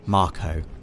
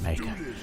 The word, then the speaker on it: Mako: now this is a Mako reactor Dave officially pronounced Marco right but I've always I've would pronounced it maker officially it is Marco DOE and you can